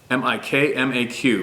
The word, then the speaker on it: Mi'kmaq: She turned into a prominent woman in our Mi'kmaq, say it phonetically, jigsaw, LOL, M-I-K-M-A-Q, pronounced Mi'kmaq.